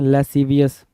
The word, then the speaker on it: lascivious: अगला वर्ड क्या देखेंगे इसमें, लेसीवियस, LASCIVIOUS, लेसीवियस। लेसीवियस क्या होता है, स्पेलिंग जरा इंपॉर्टेंट है।